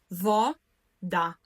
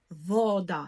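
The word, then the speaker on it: woda: акцентує пшет остатньо силабе наголос буде падати на перед останній склад тобто так як в першому класі будемо ділити слово на склади і наголошувати другий з кінця отже польска польска наголосна по польска телефон телефон вода вода Да. Інтернет. Інтернет. Наголос падає на перед останній склад. Бачимо, що слово часом відрізняється від української тільки наголосом. Українською вода, польською- вода.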